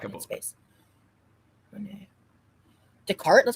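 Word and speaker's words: Descartes: Decart. That's how you say that. That's how you pronounce it. Yeah. Decart. Oh, so the S is silent.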